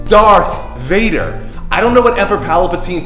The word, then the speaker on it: Darth Vader: it right I couldn't care less about it dark Vader really this is that oh yeah all the